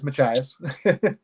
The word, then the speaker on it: Machias: the Ruggles house in Columbia Falls or uh Machias if I said that correctly uh the that area I mean seems incredibly haunted um so you did pronounce it correctly it is Machias um and uh no I haven't been to